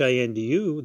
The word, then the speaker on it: Hindu: way Latin speaking people because they do not pronounce the letter H when they see h i n duu they call us Indus oh you're indu you